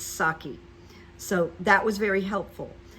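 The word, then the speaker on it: Psaki: you know like this is how you pronounce Jen's name there's no P you don't have to worry about the P it's saki so that was very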